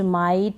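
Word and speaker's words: might: एच है नाइट राइट माइट site हाई टाइट इन सभी में आई के बाद जी एच है तो हम जीएच को नहीं पढ़ रहे हैं यहां पर इन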